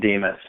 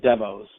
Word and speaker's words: Demos: but it went is because it's Greek it's just pronounced Dimas so it's like it looks like demos and there one thing's